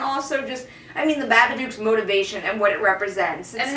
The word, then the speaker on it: Babadook: um but anyway the babadook dog because it rhymes with a book and look is it's not only